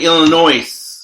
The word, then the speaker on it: Illinois: felt its like Illinois it looks like Illinois the S is silent I freakin hate silent